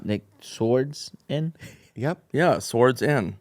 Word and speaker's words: Swardson: Yeah, swords in. Swardson.